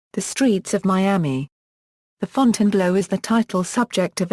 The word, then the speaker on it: Fontainebleau: The local pronunciation of the hotel's name is the anglicized Fontainebleau rather than the normal French pronunciation of the word.